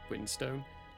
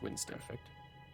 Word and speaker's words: Winston: I'm going to spell that as Windstone, but he's going to get very, very upset whenever someone says it as a Windstone, because it's Winston.